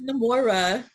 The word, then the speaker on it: Namora: Is it Namora or Nimiah? Can you pronounce it for me? It's Namora.